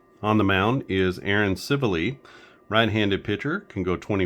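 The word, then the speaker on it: Civale: off against civile and that is how you say it civile it's not seali uh I looked it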